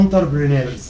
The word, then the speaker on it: entrepreneurs: كان الكلمه دي اصلها فرنش فالنطق بتاعها زي الفرنساوي شويه. اسمها entrepreneurs.